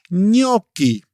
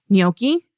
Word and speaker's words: gnocchi: Another useful sound is the combination of g n, which is like the we pronounce it nye. Okay. Where do you hear that? In which words? So, for example, in gnocchi or lasagna.